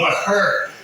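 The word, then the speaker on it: Mahr: Yeah, M-A, look, Maher. That's how she pronounced it.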